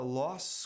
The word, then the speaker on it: loss: Se você pronunciar loss com som de S, você está falando perda, L-O-S-S.